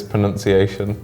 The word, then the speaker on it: pronunciation: L so world word the second word is pronunciation it's a very long word also the tion the Sean and then depending on what country you come from the n-u-n the nun because like pronunciation yeah but then because it's pronunciation because it's Pro nunciation